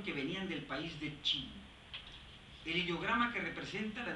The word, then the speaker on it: Qin: a los reinos combatientes, es Qin, se escribe Q-I-N, sin U, y se pronuncia Qin.